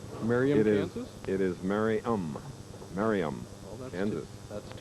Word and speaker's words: Merriam: For years, I've been pronouncing their hometown differently from what it's really pronounced. Merriam, Kansas? It is Merriam.